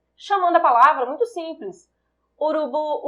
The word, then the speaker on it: urubu: Urubu, urubu, urubu. Conseguem perceber que o bu é a sílaba mais forte, que tem uma maior entonação?